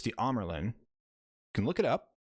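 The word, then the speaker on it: Amyrlin: They're calling the Amerlin the Amerlin. It's the Amerlin.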